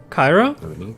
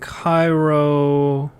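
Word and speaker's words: Cyroh: Cairo did though oh Cairo my brother is that spelled like Cairo is in Egypt uh c y r o h so like gyro it's like mckinsley but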